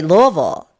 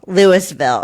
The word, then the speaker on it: Louisville: And so I would say Louisville and they'd be like where? And then I'd have to go Louisville, Lewisville, right? And then oh Louisville, Kentucky. And I'm like that's not how you say it.